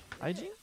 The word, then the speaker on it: hygiene: Hygiene?